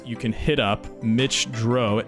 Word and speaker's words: Droz: But while you're at that, you can hit up Mitch Droz. It's actually spelled D-R-O-Z. So I was pronouncing it Mitch Droz, which I'm sure literally everybody does.